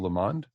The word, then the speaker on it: Lamond: It really looks like lemon, but with a D at the end. Again, we say it's so that it rhymes with and meters with the pond. So it's Lamond.